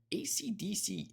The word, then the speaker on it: AC/DC: From Wikipedia, AC/DC is pronounced one letter at a time.